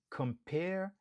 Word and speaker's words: compare: 2 syllabes, nous accentuer sous deuxième syllabe là. Pair. Compare. Par exemple, compare these two options.